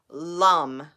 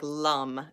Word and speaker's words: lum: So the sound would be lum, okay, like lum, L-U-M. So L-U-M.